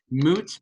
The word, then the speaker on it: Mootz: So Moot's Pizzeria has to be one of the best. It's spelled Mootz.